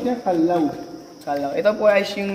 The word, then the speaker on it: Callao: at napakalamig dinan shoutout nga pala sa aming tour guide si or kilala po siyang kallaw ma'am paano pronounce niya kalaw kalaw ito po ay yung name po ng